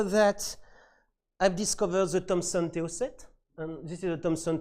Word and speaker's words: TO8: Then after that, I've discovered the Thomson TO set. And this is a Thomson TO8. Yes, I pronounced it in French because this machine was not sold out of this country.